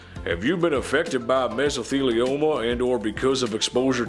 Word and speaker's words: mesothelioma: There it is, mesothelioma.